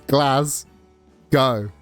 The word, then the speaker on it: Glasgow: Like Southern is pronouncing it Glasgow is also wrong. It's Glasggo.